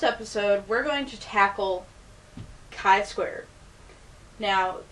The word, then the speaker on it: Chi Square: we're going to tackle Kai Square now this is not pronounced chai like the T we're not talking about